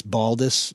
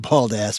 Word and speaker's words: Baldus: So just for the record, obviously this gentleman is not familiar with the phonetic pronunciation, but it's Baldus, not bald ass.